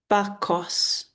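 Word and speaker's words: Bacchus: Sei or samilile s e m e l e is pronounced se uh sele bakus. Bakos Bakos the river is manus which I don't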